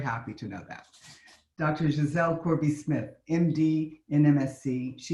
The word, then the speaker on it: Giselle: Giselle, she pronounces it in the French way. Myself being here in Brussels, I'm very happy to know that. Dr. Giselle Corby-Smith, MD in MSc.